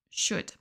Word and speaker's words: should: Passons maintenant à should. De nouveau, on ne prononce pas le L.